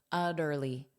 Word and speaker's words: utterly: So this, uh, sound, uh, now I'll pronounce these as soft, a soft D sound utterly, utterly, utterly, utterly exhausted.